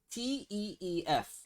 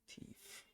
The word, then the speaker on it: teeth: I'm gonna spell it for you. It's not. It's not thief. T-E. Teeth. Teef. Teeth.